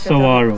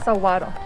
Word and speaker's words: saguaro: So this is not saguaro, the G is silent. Spanish, it's pronounced like a W, the G is pronounced like saguaro. A W. saguaro.